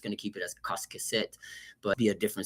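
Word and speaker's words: קשקשת: It's a kuf. Again, this is me bringing my English pronunciation to the letter Q, right? But the kuf is a k sound. So it's qasqeset, rather say qasqeset, right? It's different. It's a little different to a K. It's supposed to have a little bit of a deeper in your throat, sort of a, right?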